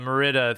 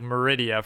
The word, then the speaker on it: Meridia: I always say that Merida thing, however, you're actually meant to say it like Meridia from Skyrim, like Statue of Meridia, who gives you like the fucking Dawnbreaker.